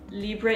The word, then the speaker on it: Libre: And I remember when the original Libre came out, Libre, if you want to say it like a French person, Libre, but I'm going to say Libre.